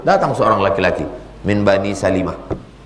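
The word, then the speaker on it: سَلِمة: Min bani Salimah. Jangan baca Salamah. Min bani Salimah. Ada memang Salamah. Abu Salamah, Ummu Salamah. Tapi yang ini Bani Salimah.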